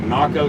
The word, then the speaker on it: Naco: I think the town was called like Naco, spelled like taco but with an N, and we walked across just to say we were there.